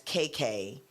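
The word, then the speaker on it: Qai Qai: And then Serena Williams, The Adventures of KK, it's spelled Q-A-I. So I think that's KK.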